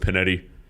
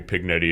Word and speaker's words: Panetti: my last name was it's pronounced Panetti but everybody called me pignetti and you know I